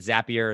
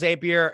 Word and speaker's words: Zapier: with connected with I don't know if you pronounce it zapier is AP right yeah yeah yeah is a peer so group funnels zapier excel I mean Google sheets is like kind